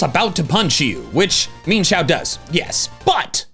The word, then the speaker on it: Mienshao: I feel like I called it Mienshao for a while and then I learned it's mean.